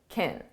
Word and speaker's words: can: Now notice can, because this is an auxiliary verb, it's not the main verb, it's pronounced as kin.